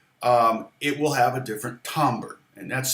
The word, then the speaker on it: timbre: nylon especially, actually, it will have a different timbre, and that's spelled Timbre.